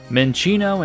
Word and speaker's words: Minccino: Minccino and Cinccino are the correct way to pronounce these Pokémon, not Minccino or Cinccino, which I should have realized.